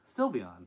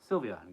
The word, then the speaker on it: Sylveon: in case you didn't know here's how you pronounce uh silvon Sylveon okay Sylveon got it all right oh stream froze for